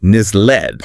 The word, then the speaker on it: nestled: The town is described as nestled between rolling hills. Nestled. Another nice visual word. And watch out for the pronunciation that t is silent. Ah, like listen or castle. So nisled.